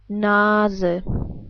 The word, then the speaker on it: Nase: But we pronounce the E different. We pronounce it like, well, as I already told you, like an E, like in 10. Let's put this all together. We would pronounce it like die Nase. Again, die Nase.